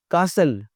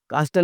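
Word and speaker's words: castle: कासल, कास्टल नहीं, महल।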